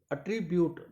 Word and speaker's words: attribute: Speak loudly किया जाएगा, ब्यूट को स्ट्रेस दिया जाएगा। तो यहाँ पर दोबारा सुनो, We attribute her success more to luck than to hard work. Once again, We attribute her success more to luck than to hard work. we attribute अट्रीब्यूट अट्रीब्यूट आर को भी थोड़ा हल्का रखा जाता है, अट्रीब्यूट, रिपीट।